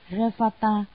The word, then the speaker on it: Revata: Ngài Ly Bà Đa, Ấn Độ đọc là Revata, chữ Hán là Tinh Tú, là bậc không điên đảo, không rối loạn đệ nhất, tức là ngồi thiền định.